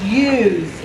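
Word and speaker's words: ewe: called a ram and female sheep are called use and it's spelled e-w-e now here's the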